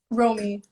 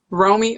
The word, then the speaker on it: Romy: meet you too okay so how do i pronounce your name romy romy okay yeah how do i talk to your